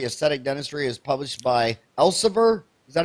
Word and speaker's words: Elsevier: His most recent textbook, Contemporary Aesthetic Dentistry, is published by Elsevier. Is that how you pronounce that? Elsevier? Elsevier.